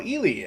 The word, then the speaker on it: Ely: I've caught up with Ely, as I've been told his name is pronounced.